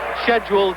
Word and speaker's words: schedule: too peaceful for this scheduled 12-rounder. I apologise for that London pronunciation, but that's what they taught me to say at school, and Americans call it schedule, but I'll try and use your words as we go along.